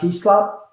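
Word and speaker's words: Heslop: had Gavin I Gavin I think it's pronounced he slop right and you have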